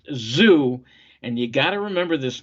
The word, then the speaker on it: Tszyu: on the zoo and his name is spelled t-s-z-y-u pronounced zoo and you gotta remember